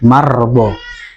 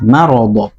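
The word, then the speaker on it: مرض: e ini juga ee ada kesalahan sebagian imam yaitu mengucapkannya mard mard faadahumullahu mardah ini ee apa yang sangat sangat sangat merusak makna ya. Mirip sama mirip sama sukun ya. Iya. Padahal itu fathah.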